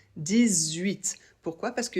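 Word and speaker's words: dix-huit: 18. Ici, le 10 doit être prononcé avec un peu comme un Z. 18.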